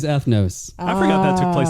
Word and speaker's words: Ethnos: It's not eight. We got a real agricola agricola situation on our hands. It's eighth notes. You are right, JK. It is ethnos.